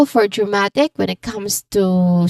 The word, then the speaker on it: dramatic: Yeah, the movie had a very dramatic ending. So, the stress syllable here is ma. Okay, ma. Because it's right before I Okay.